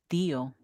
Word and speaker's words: tío: T-I-O, but it's pronounced Theo. Theo.